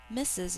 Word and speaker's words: Mrs: married to mr jones missus is two syllables think to spell z second sound s we abbreviate misses with m r s which doesn't make a